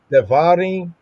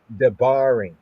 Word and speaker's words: דברים: but here we have Dvarin devarin populist popular pronunciation devarin devarin popular pronunciation ancient pointing afroshimemitically debarim debarim devarin devarim debarim is both the title